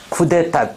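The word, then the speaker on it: coup: 다음 오케이 구 아 발음 조심해라 저것도 쿠프 아니야 어떻게 발음 피 묵음이야 쿠 그냥 쿠 꾸 프랑스에서 나 다시 아까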